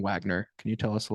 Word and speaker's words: Wegner: I don't really ever say anything about it because I hear both all the time and it makes zero sense why we do pronounce it Wagner.